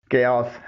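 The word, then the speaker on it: chaos: اس کی صحیح pronunciation کیاس ہے.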